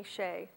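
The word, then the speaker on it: Hsieh: it's an excellent book by Tony Shea and his name is spelled h-s-i-e-h it's excellent It's about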